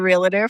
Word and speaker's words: realtor: I was the one that was the realtor for our purchase. My broker was not helpful at all. Another thing she said, she called it realtor. It's a 2-syllable word, people. Realtor. That's it.